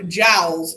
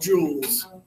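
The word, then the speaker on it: joule: okay wrong kind of there and they're not pronounced gels either they're pronounced Jules unfortunately unfortunately like the bad guys now the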